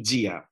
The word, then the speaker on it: dia: palabras tía y día, no se dice tía y día en la mayor parte de Brasil, se dice chia y dia.